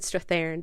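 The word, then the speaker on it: Strathairn: David Strathan.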